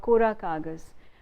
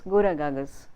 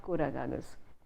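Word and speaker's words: Kora Kagaz: now Jaya Bachchan, called Kora Kagas, and everyone in my school days would say, have you seen Gora Kagas? Because Tamil speakers would pronounce that film name as Gora Kagas, not Kora Kagas.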